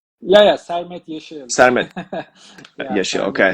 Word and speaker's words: Sermet Yeşil: I want to make sure I'm pronouncing that right. Yeah, yeah, Sermet Yeşil.